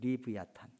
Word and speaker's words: 리브야탄: 표시를 했고이 리워야단이라는 것은 원래 히브리어 발음으로 그대로 기록한 것인데 리브 얕은 일로 읽어요 보통 리브야탄 근데 어떤 동물을